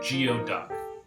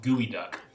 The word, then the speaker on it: geoduck: um something that's spelled it looks like it's spelled like geoduck and for any foodies out there you might already know what it is geo duck but it's pronounced gooey duck and it's um it's a type of shellfish